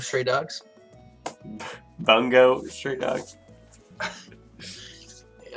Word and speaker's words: Bungo: Bacano Stray Dogs? Bungo Stray Dogs?